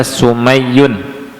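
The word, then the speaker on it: Sumayy: siapa sumai ya sum kata ulama bacanya sumunnya Diah mimnya fathah ya ynya titik du di bawah tasdid dibaca sumayun ya Abu Abdillah almadani dia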